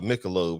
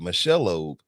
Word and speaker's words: Michelob: working at applebee's and he mispronounced uh michelob he told the person that they had michelle lobe the thing that he